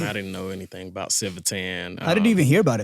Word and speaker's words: Civitan: So is it Civitan or is it Civitan? Because I've noticed like y'all say It's Civitan.